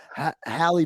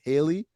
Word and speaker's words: Halle: it was like, no, Halle Bailey, and now you guys tell me it's not even pronounced Halle, it's Haley.